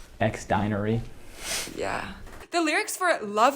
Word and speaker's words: Xdinary Heroes: heroes album or EP how do you say their name xary hero shoot sorry about that cross denary no X dinery yeah the lyrics for